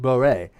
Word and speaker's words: Borel: Like I was watching a video, and it mentioned Borel, which is a mathematician, and I found out a long time ago it was actually French, pronounced Boré.